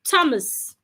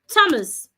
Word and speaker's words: Thomas: for example the name Thomas Thomas the H in that name is silent so when you're pronouncing it you're pronouncing it as a t not as a th it means that you